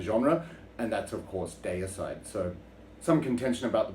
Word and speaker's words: Deicide: and that's of course day aside so some contention about the pronunciation i'm originally from australia so that's how i pronounce it day aside other people say dear side but anyway you all